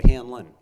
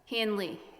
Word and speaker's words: Hanley: from NOS Environmental Services now is it Hanley or hanlin Hanley Hanley a JN l e y oh I apologize I've been mispronouncing your name tonight no problem um so I